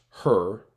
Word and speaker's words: HRRR: The High-Resolution Rapid Refresh Model, HRR, pronounced HER in operational forecast culture, represents the current state of the art for short-range convective guidance in the United States.